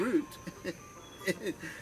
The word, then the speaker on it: Rut: But today's video, her name is Root, by the way. It's spelled in Norwegian, R-U-T, or in Hebrew, R-U-T, but it's pronounced like the root of a tree, root.